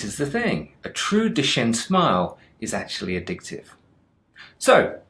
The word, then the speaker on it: Duchenne: mentioned is something called the duquesne smile which is actually i found out later is pronounced the duchenne smile okay there are several